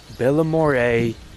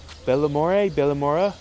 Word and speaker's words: Balmorhea: So it was raining earlier, and I'm in this small town here in Balmorhea. I think that's how you say it. Balmorhea. Balmorhea.